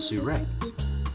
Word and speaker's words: Sirui: you get it sourey you pronounce it su-ray sure purveyor of crazy